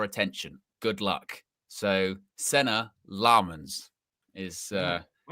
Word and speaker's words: Lammens: So, lemons um like it's quasants or um or province with emphasis on the last syllable.